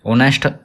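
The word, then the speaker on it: honest: ऑनेस्ट हम हमारा vowel sound से शुरू होता है। इसमें एस साइलेंट होता है। जैसे हम प्रोनाउंसिएशन करते हैं। ऑनेस्ट निकलता है हमारा। ओ ओ की साउंड निकलती है ना तो एन यूज़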